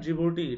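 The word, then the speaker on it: Djibouti: एस for Somalia, E फॉर इरिथिया, ई for Ethiopia and जिबूटी. तो ये D silent है यहाँ पे, राइट.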